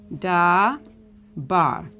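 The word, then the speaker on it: דבר: So this would be pronounced da bar, which means, this word means spoke.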